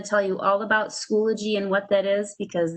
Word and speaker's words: Schoology: So some people can pronounce it Schoology, but it's new for all of us. It's Schoology.